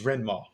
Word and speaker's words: Rendmaw: I butchered that commander's name. It's Rendmaw.